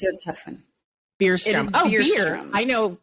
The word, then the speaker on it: Bjurstrom: say it for us it's a tough one beerstrom oh you're here i know how to say